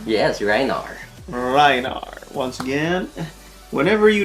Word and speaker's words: Rhinar: Am I pronouncing it right? Reinar? Yes, Reinar.